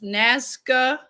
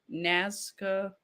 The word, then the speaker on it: Nazca: of this let's see the naz nazca lines did i say it right next nazca lines nascar lines yes yes you got it okay it looked